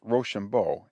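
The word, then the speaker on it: Rochambeau: of the french forces name for being pronounced roshambo it sounded when pronounced quick like rush on boys we had not lane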